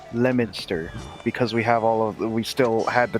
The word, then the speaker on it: Leominster: a stranger reading it would be like, "Oh, Leominster." No, it's Leominster because we still had the towns pronouncing like they would be for Well, I'm English.